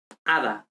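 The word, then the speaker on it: hada: the same for example ada ada is like a fairy okay um and here of course we know we know that the h is mute we don't pronounce the h in spanish so even if we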